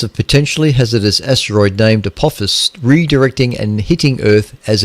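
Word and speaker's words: Apophis: going to happen there's there's an asteroid called apus now I think I'm pronouncing that right it's Latin and I hate Latin I just cannot pronounce anything that's Latin at all so just don't expect me to be able to do so but this is a p o p i s apop apus apus apus anyway who cares um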